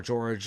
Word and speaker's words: Jorge: with art by uh jorge i think is fornes or george fournez i don't know how you pronounce his name sorry since i was not expecting to read this book yeah yeah jorge fornes or george i'm sure it's pronounced jorge though and mike norton also